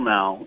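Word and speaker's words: Noé: is I'll I'll cut you some slack, but Noah, N O A H, as opposed to N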